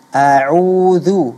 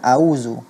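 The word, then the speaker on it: أعوذ: Ta'awudz itu lafaznya a'udzu bukan auzu.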